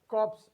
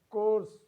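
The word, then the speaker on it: corps: is not pronounced as cops it is course course it is not pronounced as cops it is course we have a letter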